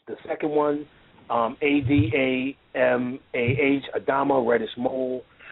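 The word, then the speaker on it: Adamah: So Artez, the second one, A-D-A-M-A-H, Adama, reddish mole.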